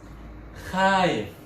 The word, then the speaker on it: خايف: 아랍어로 표현은 하이프. 자, 여기서 발음에 주의하세요. 하가 그냥 하가 아니라 하. 하.